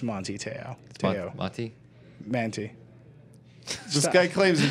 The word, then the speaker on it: Manti Te'o: Manti Te'o.